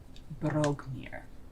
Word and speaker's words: Broghmir: Is that like broke, or is that like brogue? Brogue. Like an Irish brogue. It's spelled Broghmir. Brogmir.